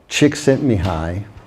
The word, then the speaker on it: Csikszentmihalyi: with an almost unpronounceable name, which I can pronounce. Csikszentmihalyi.